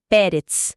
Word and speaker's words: Peretz: E nasce Peretz, que significa rompimento, irrupção, quebra de barreiras. A pronúncia é Peretz.